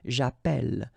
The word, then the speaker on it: j'appelle: in the previous video, if you have double L like that, it will affect the pronunciation of the E. So actually it will open the sound, and that's the reason why you will get the sound E, okay?